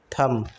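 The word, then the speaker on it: thumb: Receipt थंब थंब होता है। B silent होता है।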